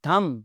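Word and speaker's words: thumb: थंब, थंब नहीं होता जी, थंब, बी की आवाज़ नहीं आती।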